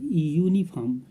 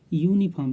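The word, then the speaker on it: uniform: तो यहाँ पर हम यूनिफॉर्म और यूनिट का उच्चारण यू अर्थात हिंदी वर्णमाला के व्यंजन वर्ण से प्रारंभ हो रहा है, इसलिए इसके पहले जो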